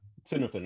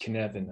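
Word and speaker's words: Cynefin: Dave Snowden, okay, that Cinefin. Okay, now I'm making the link in my head. Yeah, okay. Yeah, it's pronounced Kinevan, I think.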